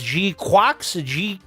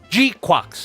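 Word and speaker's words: GQuuuuuuX: So it's Jquax. Jquax is the proper pronunciation, according to the katakana.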